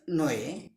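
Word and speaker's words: knee: Next DOUBT, doubt নয়, doubt, doubt নয়, doubt, doubt সন্দেহ।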